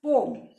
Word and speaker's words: poem: बेटा एक्चुअली जो पोएम है वो हम गलत बोलते हैं. इट is pronounced as पोम.